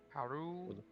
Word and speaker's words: Haru: Haru Gasumi. Haru. Yeah, Haru. You know, said in not his accent. Think of it like H-A-D-U. D-U. Haru.